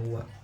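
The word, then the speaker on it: は: Kenapa ini tidak dibaca ha? Karena ini adalah partikel, ini partikel wa, jadi dibacanya wa, tabe tewa ikemaseng.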